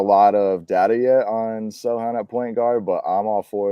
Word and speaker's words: Sochan: did an interview recently where he said specifically that Sohan is how it's pronounced in Polish, but if you were to say it over here, Sohan is fine.